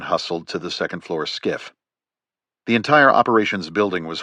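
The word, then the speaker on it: SCIF: He pronounced the acronym as skiff, a sensitive compartmented information facility.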